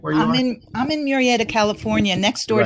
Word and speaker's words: Murrieta: I'm in Murrieta, California, next door to Right.